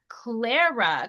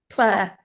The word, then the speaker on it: Clare: So, we have Clara. Clara. Claire.